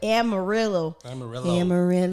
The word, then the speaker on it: Amarillo: i can't say amarillo it's only one r so it would be a soft r amarillo um bro i can